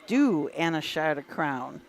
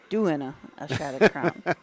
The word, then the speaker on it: Do and a Shot of Crown: It is Do and a Shot of Crown, not doing a shot of crown.